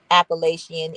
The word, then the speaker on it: Appalachian: Elsewhere, a commonly accepted pronunciation for the adjective Appalachian is with the last two syllables IAN pronounced as the word Romanian. The geography.